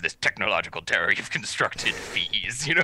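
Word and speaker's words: Fils: american director he whatever i see long e as in beads so fees fees when he was doing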